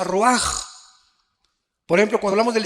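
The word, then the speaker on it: רוח: Aquí se usa otra palabra hebrea, que se escribe ruach, con R de Raúl, A-C-H. Se pronuncia ruach.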